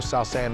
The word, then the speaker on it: South San: all he wants to do is make sure sou sand is how you say well represented and he